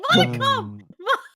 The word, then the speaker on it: modicum: No, I just say modicum. Just say it like it's one word. Say it like it's one word, not two words.